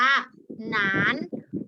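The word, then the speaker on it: 男: จะ เป็น เสียง จัตวา คำ นี้ อ่าน ว่า หนาน หนาน แปล ว่า ผู้ ชาย นะ คะ นะ มา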